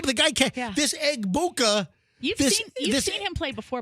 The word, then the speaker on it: Egbuka: And I tell you what, this rookie dude, Egbuka Baduka. Andrew, what's the correct pronunciation? Where'd this guy come from? Rookie Buck player Emeka Egbuka.